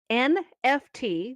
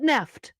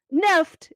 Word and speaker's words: NFT: while according to an article in the verge nft the acronym for non-fungible token believed by many to be a blight on the web and the metaverse is not pronounced nft but nefft did you know that nope what the hell